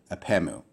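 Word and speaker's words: ἀπ' ἐμοῦ: And here you have an apostrophe, and you would pronounce this together as epemu, as if it was one word.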